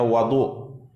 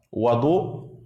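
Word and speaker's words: وَضوء: terdapat air untuk wudu ya jadi membacanya Wadu beda dengan wudu membaca dengan damah wwya dengan damah wudu itu maknanya adalah perbuatan atau berwudu tapi kalau membaca wauya dengan fathah baris depan Wadu maka itu artinya bejana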